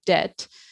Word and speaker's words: debt: So words like, you know, debt, which we got from French and had been using saying debt and spelling it as d e t t e or you know something how we say it. Said no no that this comes from the Latin debitum and we're going to stick a b in there to show that now it's debt d e b t.